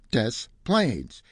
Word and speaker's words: Des Plaines: Since I'm from Chicago, I told him the right pronunciation was Des Plaines.